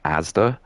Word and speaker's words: Asda: and they were talking about the supermarket chain Asda. That's how it is. But he just pronounced it as in the letters because it is just like ASDA.